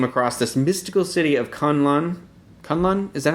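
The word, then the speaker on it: K'un-Lun: And it's K-UN like K''UN L''. It's like a modern toddler's name. Yeah, and so I was like, well, okay, they say Kunlun in the trailer, so I'm assuming they know how to say it.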